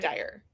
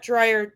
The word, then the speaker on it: Dyer: Yes. Not Drier. Dyer. Was I I was saying it wrong, too. activated the YouTube comments now, right? Yeah. We love It's It's dire, not drier, you know.